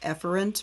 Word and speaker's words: efferent: actually pronounced um afferent and the other one's pronounced efferent but i'm going to mispronounce them so you